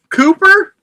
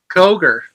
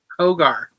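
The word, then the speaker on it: Cogar: Adakus Cooper, which what' you call him? Cooper. Is it Is that not how you say it? Kogar. Kogar. Attakus Koger.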